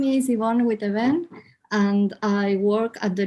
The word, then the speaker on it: Witteveen: I pronounce it Witteveen. Witteveen, okay.